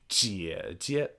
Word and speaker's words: 姐姐: And lastly, the third tone character, Jie, when saying the full name, sounds like Jie Jie.